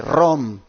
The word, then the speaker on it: Rome: Atlanta allí cerca de Rome Georgia de que este sábado tendré el privilegio de predicar la palabra de Dios allí en la iglesia advenimiento de esa ciudad llamada ROM se escribe de Rome allí hermanos estaré